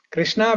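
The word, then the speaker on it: Kṛṣṇā: Krishna with a long syllable, Dirgham. That means it refers to Draupadi.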